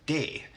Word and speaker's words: D: And then we have D, which in Swedish is de.